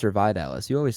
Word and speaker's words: Vidales: And then you can find me at Instagram, Letterboxd, and Twitter at Vidalis. VIDALES. Am I pronouncing it wrong? Is it Vidalis or Vidalis?